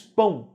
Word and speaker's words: pão: comprei um pão pão o ó não é pronunciado como ó você não disse espanhol nem diz espanou você diz pão né como se fosse o Uber fraco então vogal a semivogal